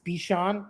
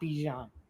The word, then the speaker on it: Bijan: So I can respect somebody saying, hey, it's Bijan, not Bijan.